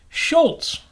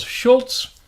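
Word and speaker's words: Schulz: shout out to Charles Schultz I still put the T in there even though I now know it's s CH hu LZ with no T interesting I wonder if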